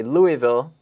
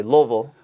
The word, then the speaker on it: Louisville: Seneca High School in Louisville, Kentucky. Uh-huh. Most people, I guess, in the north would say Louisville. Down there, people with their accents, they say Louisville.